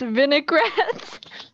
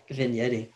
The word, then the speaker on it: vignetting: it's this entire time i thought it was pronounced vinaigrette vinaigrette no vignetting but you heard that before